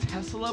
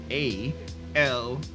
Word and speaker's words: Tsalal: It's almost like Tesla, but it's not. Yeah. It's like Tesla. It's pronounced. It's TSALAL.